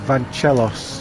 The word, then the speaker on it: Vanos: say it I mean you're Brazilian and I'm pronouncing it as though you're Greek so uh well I know it it's it's Vanos you know Bob do